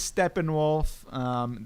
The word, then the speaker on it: Steppenwolf: how you'd pronounce that it's German so it is Steppenwolf that will be the